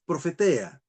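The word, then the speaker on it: προφητεία: La profecía en el Nuevo Testamento, el vocábulo profecía en el griego bíblico del Nuevo Testamento es profetea, así se pronuncia.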